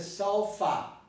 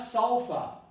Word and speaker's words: sulfa: Sulfa you can see contains a schwa here, contains a neutral vowel in the beginning. Sul, sul. And then it has an FA, which many people might interpret as sulfa. But it's not sulfa, it's sulfa. Because it tries as sul, and then fa becomes fa, the neutral vowel.